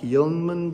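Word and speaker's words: YInMn: about the oregon blue it's uh variously pronounced like yungmen blue it's difficult to say this was the first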